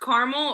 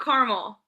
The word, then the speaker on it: caramel: Do you think the word caramel is pronounced caramel or carmel? Caramel. Caramel. Caramel. Not carmel.